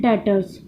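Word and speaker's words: debtors: था अब इसे हम इंग्लिश में बोलते हैं डेटर्स यह लिखा तो जाता है Doctors लेकिन इसे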